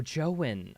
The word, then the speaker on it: Joen: It sounds like Owen, but with a J. Oh, Joen.